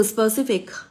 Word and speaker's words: specific: Mình có quy tắc là đuôi IC sẽ làm trọng âm rơi vào trước âm đó. Cô có từ sau. Cô có từ specific. Giờ cô sẽ có specific. Nó rơi vào trước âm đó, âm tiết thứ hai của từ.